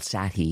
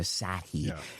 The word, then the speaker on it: Sathi: that he's built something new and it's called Sathi and it's spelled s a t h i and it's just launched in the Shopify App Store.